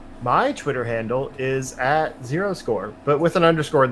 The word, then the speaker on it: 0_score: My Twitter handle is at @0score, but with an underscore in the middle, because I'm not cool enough to have just @0score by itself.